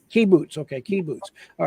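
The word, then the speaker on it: kibbutz: town in Israel what do we call these Caboose right say one more time for me I'll make sure I say it right Caboose K boots key boots okay key boots all right I I just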